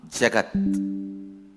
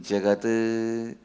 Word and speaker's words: jagat: isha vasyam foreign the original writing the sutra is jagatyam jagat but if you see when i pronounce i will be pronouncing jagada this is the way i heard from my masters so it is